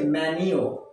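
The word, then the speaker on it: menu: এইটা হচ্ছে মেনিউ। What is ইট? মেনিউ, নট মেনু। মেনিউ।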